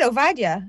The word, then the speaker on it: Ovadia: Today's guest is Ovadia. I didn't even say that right, did I? You did, Ovadia.